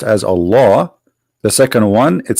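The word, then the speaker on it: الله: says al hamdu lillahi laughs the first one pronounced as a law the second one it says Lee laughs okay so what we have now let us make it simple here we have all law in the first verse and in the second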